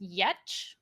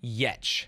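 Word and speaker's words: Giertz: Pronounced Yetch. Yet, ye tet. Simone Yetch.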